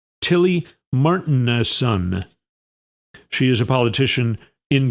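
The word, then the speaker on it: Tilly Martinussen: A lifelong Greenlander, Tilly Martin, I think is how you say her name. M A R T I N U S S E N. Tilly Martin.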